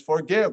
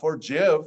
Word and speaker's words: forgive: It's not a soft G, it has an I after it, but it's forgive, not forgive, or it's actually, if